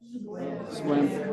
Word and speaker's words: Sequim: This one, Squim. I still see it as Sequim, but I say it correctly.